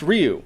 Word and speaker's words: Ryu: yeah that's what I was saying Ryu it's pronounced Ryu that's what I would say I agreed with